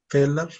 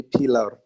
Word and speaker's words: peeler: Peeler. Peeler. Peeler. Peeler. Mm-hmm. Okay, so Measuring. you don't pronounce the R at the end. You don't say pillar. You say peeler.